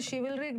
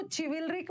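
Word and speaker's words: chivalric: यहाँ पे मैंने शिविलरिक डाला है, इसका 2-3 मतलब होता है। एक शिविल, इसको चिविलरिक मत पढ़ना, ये श है, शिविलरिक।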